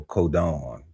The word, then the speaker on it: codon: Oh, codon.